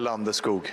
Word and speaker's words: Landeskog: Gabriel Landeskog. Skog. Thank you. I want that pronunciation when they come back to Ball It's Arena.